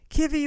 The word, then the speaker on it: Kivy: Eventually, we settled on Kivy. That's Ki Vy. And I pronounce it with a short eye versus KI.